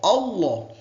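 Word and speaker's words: الله: Tafhim ini artinya adalah tebal, kandel. Ya, jadi bacanya Allah, Allah. Ada lawannya itu adalah tartik, ya, tipis. Illah, billah, tillah gitu ya.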